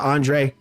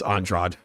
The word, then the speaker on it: Andrade: yeah I would even accept it onr but it's onra yeah it's onrad if you don't want it to be onrad take the d out yeah I I have